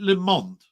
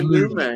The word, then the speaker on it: Lumet: Is it Lamont? Is it most people say? It is Lumet.